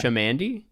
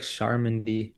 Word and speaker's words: Shamandi: know, this is and correct me if I'm wrong with the pronunciation. It's Yeah. Shamandi. Yeah, perfect. That's actually Okay. the first time someone's gotten it like well. They always say like Charmandy for some I reason.